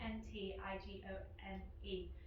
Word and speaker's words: Antigone: It was Antigone, it's spelled like Antigone, Antigone.